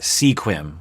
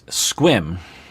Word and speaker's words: Sequim: squim wash it so a lot of people might think you pronounce that sequim which is rational to think but it's squim which is nearish to